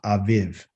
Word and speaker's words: Aviv: the first month which is the month of aviv okay if i put it in the proper letters it would be a b i b i b but it's pronounced aviv because the the v sound is really from